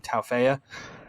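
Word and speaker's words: Tauaefa: They put a linebacker on the Josiah, I don't know how to say his last name, Taufeya.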